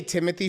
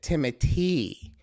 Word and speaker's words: Timothée: Oh, because I say Timothée Chalamet, and she's like, "Well, babe, he pronounces it Timothy, so you should probably say Timothy."